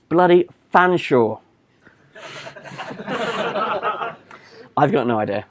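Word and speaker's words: Featherstonehaugh: one I shout somebody shout out how to pronounce the last word it's bloody Fanshawe I've got no idea how that happens but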